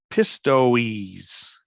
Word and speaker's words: Pistoiese: Pistoiese. And that's exactly how you pronounce it.